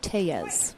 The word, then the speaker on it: Tellez: a slight Edge and did you know it's tayas hey yes is how you say his last name we've all been doing it wrong and he let us